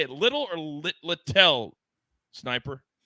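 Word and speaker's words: Littell: say it little or litel sniper is it little or I believe it's little all right l-i-t-t-e-l-o I guess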